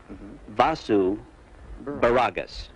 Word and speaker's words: Vasu Baragas: once again how do you say it uh vasu baragas yes